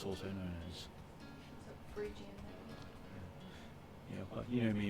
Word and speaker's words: Phrygian: So the Frisian, Phrygian, or Liberty Cap as it's also known as. Phrygian.